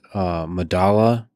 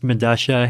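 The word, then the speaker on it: Medellín: I believe it's pronounced Medasha. It's a South American subway station. I forget where. But spelled with two L's. Yeah, because that's that's how Spanish works, right? Like the two L's have Medasha.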